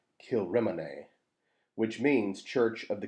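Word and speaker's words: Kilrymont: looks like it's spelled kill ramont but it's pronounced kilrimine which means church of the king's mount there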